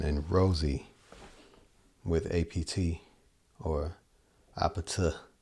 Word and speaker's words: APT: Rosie with a or apata. I think the pronounce the correct way to pronounce it is abet. The Korean way to say apartment, which is actually like